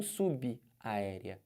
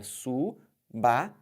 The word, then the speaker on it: subaérea: Base subaérea. E não subaérea. É subaérea. Entenderam?